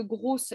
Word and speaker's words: gros: que le masculin de grosse, il y avait 2 S. Il n'y en a qu'un. Hein. Et c'est gros, ça ne se prononce pas, comme on a vu.